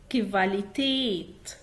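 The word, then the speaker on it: Qualität: طيب المهم ان الحرفين دول لما بيجوا مع بعض بيتنطقوا كفا. كفا. كفا. ناخد مثل عليه كفاليتيت. كفاليتيت.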